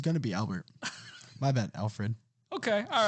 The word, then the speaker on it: Alfred: the bat family probably Albert what he said podcast you heard that right you heard him get his name wrong oh what's his name Alfred Oh I thought it was Albert bro bro I've grown